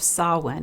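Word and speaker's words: Samhain: The ancient Celtic festival of Sawin. And if you don't know how to spell it, you might want to go check out my blog because it is not spelled anything like it sounds.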